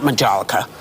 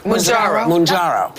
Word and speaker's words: Mounjaro: And one of the things that's helped me drop the weight is not Majolica. Mounjaro.